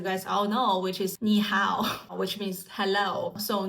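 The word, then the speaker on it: 你好: all know which is niow which means hello So niow based on the pronunciation it's n i is the sound of knee after you type an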